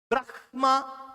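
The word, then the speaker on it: ब्रह्म: Brahma comes here. So you have to reverse. So in Sanskritam, it is written as ha first, ma later, but pronounced as Brahma.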